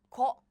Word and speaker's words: 악어: There is placeholder here, so this 기역 sounds goes here, as in 악어, 악어, 악어.